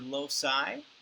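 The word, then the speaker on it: loci: it's a word locusts now the word locust is singular you're also going to see the word low-side that becomes a soft C when there's more than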